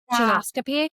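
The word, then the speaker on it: Geneoscopy: So say again how you pronounce your um genoscopy. Jonoscopy. Okay, I'll go back and Okay. Okay, I'm good. Okay. And my next question for you was about kind of how does genoscopy's colossense test differ from the other colorectile screening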